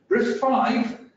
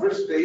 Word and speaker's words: RISC-V: Essentially, it's RISC-V is it is RISC-V, not RISC-V, if some people might mispronounce it.